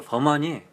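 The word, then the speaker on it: Vermont: 버만트. 원래 발음을 할 때는 버만 하거든요. 트가 안 들어가더라고요.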